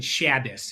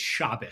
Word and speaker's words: Shabbos: First of all, my name isn't Shabus, it's Shabus.